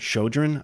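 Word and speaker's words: Chödrön: And there's another book by an American Buddhist nun, Pema, I don't want to mispronounce her name, but Shodron, I believe is how it's pronounced.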